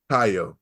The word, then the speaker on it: Caio: Caio, like hard C. Yeah, hard C.